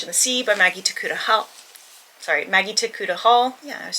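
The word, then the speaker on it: Tokuda-Hall: Mermaid, the Witch, and the Sea by Maggie Takuta Hall.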